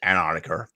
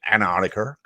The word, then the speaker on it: Antarctica: CC does have an issue when he says Antarctica. You miss the C. Antarctica. It's not Antarctica. Antarctica. It's Antarctica.